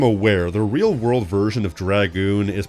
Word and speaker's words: Dragoon: Even Dragoon is a bit of a weird one if you think about it. Back in the day, people used to pronounce it with a soft A all the time. Thankfully, that's not really a thing anymore.